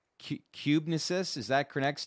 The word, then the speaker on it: cubensis: Am I pronouncing this correctly? Cubensis, is that Crenex T? Cubensis.